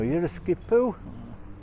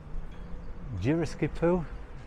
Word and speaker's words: Yeroskipou: So Yeroskipou, spelt like that. Geroskipou. Various pronunciations you will hear, just like Paphos, which will go from Paphos to Paphou. So you'll hear people talk about Paphou, Paphos, Paphos.